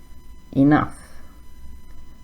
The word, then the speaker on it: enough: Rough, tough, enough. So they all have a similar sound at the end. It sounds like uff.